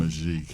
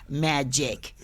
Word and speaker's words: Magique: It's a French word for magic. And the spelling is trickery, so therefore people have anxiety pronouncing it. But it's very simple. Magique 4. Instead of saying magic, you say magique.